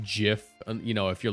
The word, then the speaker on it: GIF: you know how like GIF is actually pronounced Jif you know if you're